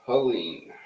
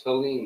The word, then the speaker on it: Helene: Hurricane Helene. Not Helen, folks, it's Helene, the way it's spelled.